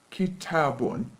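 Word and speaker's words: كتابٌ: to say a book we say kitab one ki tabun we add new nation or tenuen at the end of the word kitab if we're talking about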